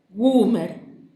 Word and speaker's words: Gumersindo: papá cuando le preguntaban, y lo pronunciaba haciendo más gutural la U, como si esa vocal estuviera doblemente acentuada y durara mucho más que cualquier otra letra. Goomer.